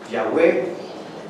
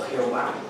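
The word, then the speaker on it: Yahweh: de mi señor porque mi señor en hebreo su su nombre no se puede pronunciar porque son puras consonantes una y una H una W y otra H Cómo podemos pronunciar así su nombre entonces con con el pasar de los años se fueron añadiendo las vocales para que podamos mencionar yahwe o yah o Jehová y queé significa el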